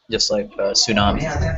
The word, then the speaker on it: tsunami: Just like xylophone, or just like tsunami. You don't say the T, but you have to have the T there to make it look like it.